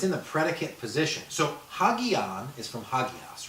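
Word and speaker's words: ἅγιον: Just a rough breathing mark. Hagion.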